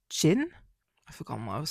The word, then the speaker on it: Jin: Let me see if like Jin Chin. So yeah, it's um written J I N, but it's pronounced Chin.